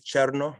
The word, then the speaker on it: Cherno: but my name is cherno like the word chair and the word no put together and if you can roll your r's you get bonus points in my eyes so really look forward